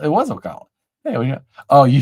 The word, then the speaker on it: Ocala: Nobody calls it that. It's Ocala. It was Ocala.